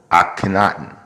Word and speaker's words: Akhenaten: of the Egyptian pharaoh akhenaten a tenet on I like to say at Kennett on because it sounds cool but i guess is supposed to be pronounced Akhenaten but this is my video